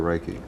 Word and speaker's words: Reiki: go global edge what exactly is Reiki or Reiki you said it right Reiki Reiki what exactly